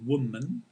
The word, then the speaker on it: woman: woman or business women this is such a common mistake right people mispronouncing woman in the singular woman and we win in the plural right singular business woman